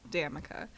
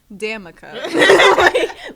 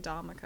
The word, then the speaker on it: Damica: my name is pronounced damica literally people get so afraid to say the day again damica people get so scared to say the damn part for some reason that